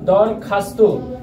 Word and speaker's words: দরখাস্ত: Viewers, পরেরটি লক্ষ্য করো, দরখাস্ত, দরখাস্ত বানানে উচ্চারণ রীতি দরখাস্ত। ভিউয়ার্স, একটু লক্ষ্য করো, এখানে দর থেমে গেছি তাই নিচে হসন্ত, খাস থেমে গেছে হসন্ত, তয়কারে তো, দরখাস্ত।